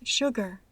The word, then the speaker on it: sugar: regla son las palabras Sugar sure que se pronuncian con el sonido sh se encuentra esta pronunciación